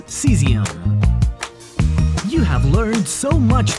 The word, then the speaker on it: cesium: Let's learn to pronounce this last one in our song. It's cesium.